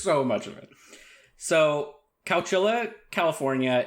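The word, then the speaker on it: Chowchilla: Cowchilla? Cowchilla. Cowchilla. Did you look up that that's how it's pronounced?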